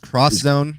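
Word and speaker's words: X Zone: pronounced cross it's pronounced cross Zone that's how the Japanese say it because it's not an X remember for your PlayStation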